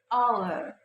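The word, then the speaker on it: hour: history the second is some H is silent like our our honor honor and honest honest letters qu letters qu repres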